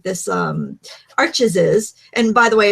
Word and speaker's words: Arches: working on 100% cotton paper like this um arches is and by the way it's actually pronounced Arch but um the American we pretty much all of us in America pretty much pronounce it arches um well that's how it's spelled well yeah